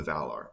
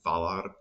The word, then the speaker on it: Valar: That is, and maybe they actually would have still pronounced it Valar, but it would have been strange because usually an F in the beginning of the word isn't going to be voiced.